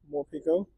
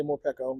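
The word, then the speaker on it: Morpeko: is going to be more Pico more Pico PCO I mean I don't care how you say it I'm not going to be picky some people say more Pico some I say more PCO but y really got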